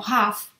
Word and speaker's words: half: Half an hour no tiene, o sea, tiene una L pero no se dice, entonces no la digamos, ¿vale?